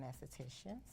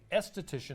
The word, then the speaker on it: esthetician: It's just the A careful. is silent. The A is silent. Okay. It's still the same. So esthetician Yeah.